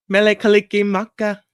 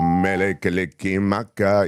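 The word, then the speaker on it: Mele Kalikimaka: Mele kick maka. Yeah. Mele kick maka is the way to how is the what's the lyric?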